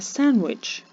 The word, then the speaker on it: sandwich: daughter is eating a sandwich в слові daughter не вимовляється літери G в слові sandwich не вимовляється літера D Must Clim в слові